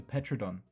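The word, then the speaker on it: Pteranodon: This is a petrodon. The P is silent, but I still say it because it's funny.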